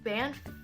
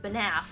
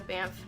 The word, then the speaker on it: Banff: One of the girls on our sister channel is from Canada, and she did not pronounce it Banaf, which is how I was pronouncing it.